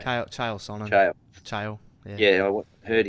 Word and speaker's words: Chael Sonnen: How do you pronounce his name? Chael Sonnen.